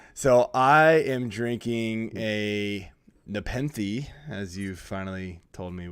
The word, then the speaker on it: Nepenthe: you all right so I am drinking a Nepenthe as you finally told me what it's pronounced officially alpaca Ruckus triple IPA as well